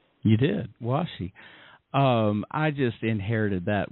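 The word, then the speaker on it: 和紙: Did I pronounce it right? Washi. You did. Washi.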